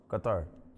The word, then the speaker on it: Qatar: How is it supposed to be pronounced? Qatar. Qatar.